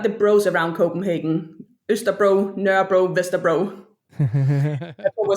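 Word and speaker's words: Nørrebro: So, it's N the Danish O with the line through a R E B R O. So, nur bro.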